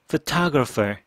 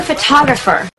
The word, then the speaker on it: photographer: 두 번째의 강가 있죠 그러니까 첫 번째는 pher photographer 두 번째에만 강세가 있고 나머지 몸들은 강세가 하나도